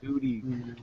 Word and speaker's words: Guti: It's not like Gotti, like an Italian name.